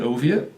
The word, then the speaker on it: Oviatt: that way as well they always called me Soviet Oviatt and you know get gold and poked fun at it nowadays I'm it's a something that I use so that people can pronounce my name correctly because it is a